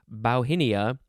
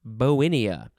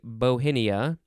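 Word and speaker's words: Bauhinia: have bowenia bowenia b-a-u-h-i-n-i-a it looks like it's pronounced bowhinia but it is bowinia well you could say bohenia and you could say well i don't know how that letter is pronounced but close enough okay noun from 1725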